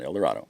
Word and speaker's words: El Dorado: broken branches over toward El Dorado Springs and it's held arrayed oh it's not Eldorado it's El Dorado beat it in your head learn how to pronounce things locally El Dorado at Versailles